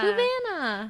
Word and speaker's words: Fluvanna: So, I don't know how to pronounce this. Correctional Center. Fluvanna? Fluvanna.